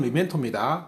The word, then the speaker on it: memento: 자, 여기서 미멘토라는 말은요, 발음 미멘토입니다.